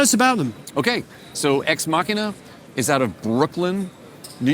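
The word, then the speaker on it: Ex Machina: exina minina exmachina minina so remember that it is Latin so no one really knows how to pronounce it okay and you don't even have to have an accent cuz we don't know what the accent is either but exmachina is what's accepted by you know the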